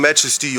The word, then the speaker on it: MAJESTY: wrong online many times How can that happen, it´s MAJESTY and not MAJJJJESSSTY And if you want